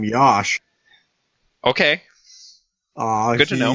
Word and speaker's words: Yosh: weighing 314 pounds okay his first name rhymes with Josh apparently according to the